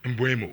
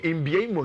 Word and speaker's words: Mbeumo: Only Gabi more pronunciation be. Mbeumo. Mbeumo.